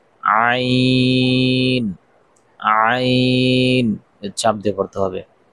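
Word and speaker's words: عين: সঙ্গে লাগাইয়া ওখান থেকে উচ্চারিত হয় ভ ত আইন আইন চাপ দিয়ে পড়তে হবে।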